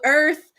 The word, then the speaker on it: Irth: So Earth, and Earth is spelled IRTH. It like birth, but without the B.